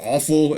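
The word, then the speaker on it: Offal: next up we have some more opal um or awful it's spelled o f f a l and uh this one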